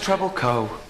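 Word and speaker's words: Trebilcock: and yeah it's pronounced treble co it's an ancient cornish name the ck is silent yes yes like the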